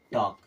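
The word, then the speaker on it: talk: समझेंगे के के पहले देखिएगा टी ए एल के के के पहले एल आया मतलब एल गया बचा क्या टी ए के यानी कि टॉक क्या बचा टक डब्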